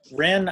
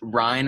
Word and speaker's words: Ryan: welcome aboard thank you wren i sorry i may have pronounced your name incorrectly uh so it's ryan actually ryan okay um so i'm